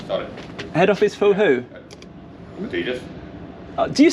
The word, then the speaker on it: Adidas: Adidas. Do you say Adidas? Yeah. I just wanted to make sure. It's pronounced Adidas.